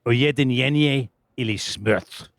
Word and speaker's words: Ujedinjenje ili smrt: Ujedinjenje ili smrt. Because you've got to raise your voice at the end of that, because there is an exclamation mark.